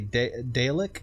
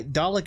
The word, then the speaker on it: Dalek: Some say Dalek, as in Dale of Chippendale. No, yeah, Dalek is how I learned it.